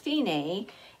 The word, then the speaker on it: Fine: in tight a word and it means it's pronounced fini and DC means to capo which literally means